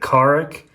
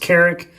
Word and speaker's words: Carrick: Now, some people pronounce it Carrick, but I've always heard it pronounced Carrick. So this is a tomato issue. Whichever you want, the knot is the same.